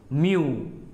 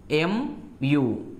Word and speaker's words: mu: alike and we hope to use mu M U is the pronunciation mu example young H for